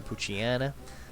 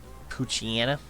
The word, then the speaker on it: Poochyena: Would have been another Poochyena. Poochyena. Maybe it's Poochyena. Like hyena? I've always pronounced it Anna. Poochyena.